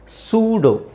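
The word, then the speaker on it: pseudo: ಇ ನು silent ಆಗಿರುತ್ತೆ ಸೂಡೋ ಸೂಡೋ P silent ಮಾಡಬೇಕು ಈ ಸೈಲೆಂಟ್ ಮಾಡಬೇಕು ಸೂಡೋ ನಿಮಗೆ ಈ ಪದ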